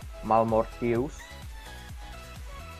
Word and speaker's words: Malmortius: guess now i have mouth of marmot use malmortius that's the right pronunciation okay i'm going through magic resist that's